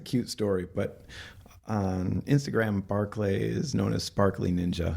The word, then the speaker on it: Barclay: story actually um so the pronunciation of my name is barlay but uh whenever I was coaching gymnastics when I was like 14 I had kids that would uh call me Barkley and uh they just